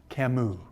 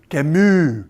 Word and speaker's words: Camus: Simone de Beauvoir over here, and Camus. As Alex Trebek likes to say on Jeopardy, Camus. He pronounced, have you ever noticed Alex Trebek?